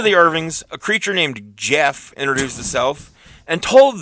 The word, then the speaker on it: Gef: to um I will not up next is Jeff spelled GF no in September GF g e